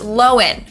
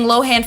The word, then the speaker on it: Lohan: have Lindsay Lohan again her last name is pronounced lowen okay everyone's been saying Lohan for years but it was recently revealed that we're wrong it's low end not Lohan anyways the downfall of Lindsay and is actually